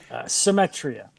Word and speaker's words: Symetria: don't want to butcher the same the the pronunciation. How do you say the band's name? Symmetria.